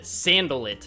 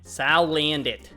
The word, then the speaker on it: Salandit: People were flaming me in the comments that I said Sandalit in my last opening. Salandit.